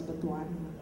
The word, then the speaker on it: Butuan: Because if you ask me, for example, you're a radio station in Butuan, like they told me that it's pronounced as Butuan, then you will know exactly who the advertisers would have an interest in Butuan.